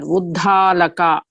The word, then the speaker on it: Uddalaka: And then Uddalaka. Mahaprana is there. Uddalaka. Not Uddhalaka. Uddalaka or something as mispronounced, wrongly pronounced.